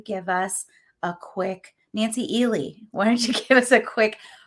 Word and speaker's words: Ehle: And because in my brain, I had always pronounced it. It's actually Ehle.